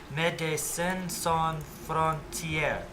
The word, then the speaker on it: Médecins sans frontières: Médecins sans frontières. All French words with the accent of the final syllable.